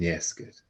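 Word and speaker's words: fheasgar: Ans and yesker. And remember FH is silent, so we say that ans and yesker, as if it starts with the E rather than the FH.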